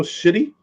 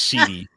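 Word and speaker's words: Schiti: The artist is Valerio Shitty. I believe it's pronounced Sheedy.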